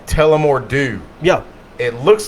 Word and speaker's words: Tullamore Dew: It's called Tullamore Dew. Yep. It looks like Tullamore Dough, Yep.